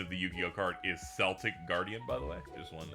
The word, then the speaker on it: Celtic Guardian: A By the way, the pronunciation of the Yu-Gi-Oh card is Celtic Guardian, by the way.